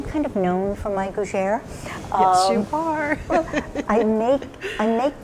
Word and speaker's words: gougère: And is it the new gougère? I don't know if I'm pronouncing that correctly. Gougère, yeah. Yes.